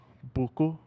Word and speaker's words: Boku: Boku? Is it Boku frequency? Is that the Not correct way? Boku. Yeah. Not Goku Boku. Boku. Yes.